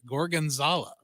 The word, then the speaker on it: Gorgonzola: And one of my favorite things was, and I finally learned how to pronounce it after like 4 times, Gorgonzola.